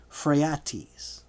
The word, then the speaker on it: Phraates: He had been living in Parthia as a captive, but was set free by the Parthian king Phraates, or pronounced Phraates, when the Syrian attack began, so that he might harass his brother, Antiochus Sidetes.